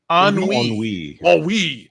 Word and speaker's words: Ennui: And guys, how do I pronounce this French word again? Ennui? Ennui.